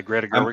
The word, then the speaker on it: Greta Gerwig: Because, I mean, it's got a pretty acclaimed director, who was it, Greta Gerwig? Is that how you say it? Yeah, Greta Gerwig.